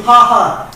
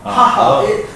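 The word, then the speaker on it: Ha! Ha!: Louis of Ha Ha. Ha Ha means an obstacle. Yeah. An obstacle. Really? In French? In French. It's called Ha Ha. In French, they don't pronounce H, but this one is included.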